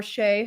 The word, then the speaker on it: Chay: She's our good friend or Sheay if you pronounce it correctly.